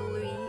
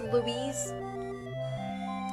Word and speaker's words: Louise: Is your name pronounced Louise or Louis? It's Louise. Not Louis.